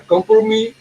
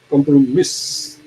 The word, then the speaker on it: compromis: at consent can be given by means of a compromise or a special agreement. We do not pronounce as compromise because it's a French not English time.